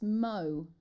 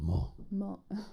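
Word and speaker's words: Meaux: how you pronounce this i think it's mo m-e-a-u-x is that right is it mo if it's french you have to go more more they need to do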